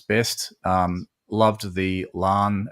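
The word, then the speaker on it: La'an: Am I pronouncing it right, Nick? I hope I am, because I get criticised every time I say her name. I think you're 99% there. Yeah, Lan, Miss Nudian Singh. exactly. I think there's an apostrophe in there somewhere, so it's like Lan.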